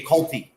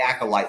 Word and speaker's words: acolyte: our the acolyte uh I couldnot pronounce the word correctly for like the first couple like once the show came out I wanted to call it the ulti every time and finally uh like it got through to me that it's actually called the acolyte so thank God that